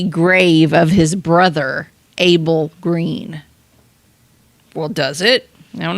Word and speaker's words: Greene: The Green with a silent e on the end. So, G re e.